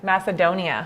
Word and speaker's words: Macedonia: is that that little word macadone macedon macedonia macedonia that's how you say it yes i want